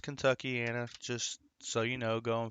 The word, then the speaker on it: Kentuckiana: So that area is called Kentuckiana.